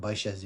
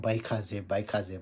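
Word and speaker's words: भैषज्ये: तद्याथा भन्छ ओम वैशाजे हामी संस्कृत भाषामा प्युर संस्कृतमा पढ्दाखेरि वैशाजे हुन्छ धेरैले के भन्छ बैखाजे भन्छ तर संस्कृत भाषामा के छ भने संस्कृतिमा वैशाजे छ होइन त्यसै गरेर हामीले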